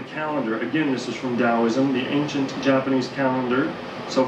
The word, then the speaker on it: Taoism: It's spelled with a T. Some people pronounce it Taoism, but generally it's Taoism.